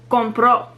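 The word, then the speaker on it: compró: syllable here's another example the word compro which means bye it ends in a vowel o so it breaks rule one and the stress is put on the last syllable very good and then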